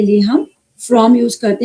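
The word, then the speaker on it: FRAUM: Again जो इसके इसके साथ ही एक स्विच वर्ड है फ्रॉम एफ आर ए ए यू एम फ्रॉम इसको बोलते हैं फ्रॉम। फ्रॉम इसका जो प्रोनाउंसिएशन है फ्रॉम बोलेंगे।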